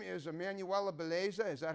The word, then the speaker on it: Emanuela Bellezza: and i'm going to interview her name is emmanuella beleza is that how you pronounce it that's correct pizza belief like pizza